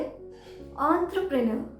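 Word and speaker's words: entrepreneur: इसी तरह से एक और वर्ड है एंटरप्रेन्योर, एंटरप्रेन्योर। यहाँ पर ई को हमने ओ की तरह प्रोनाउंस किया है, एनवेलप, एंटरप्रेन्योर।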